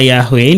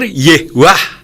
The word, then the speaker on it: Yahweh: Nah, kalau masoretik Yehuwah itu juga salah. Yang benar Yehwah, bukan Yehuwah. Yehwah itu yang benar sesuai masoretik.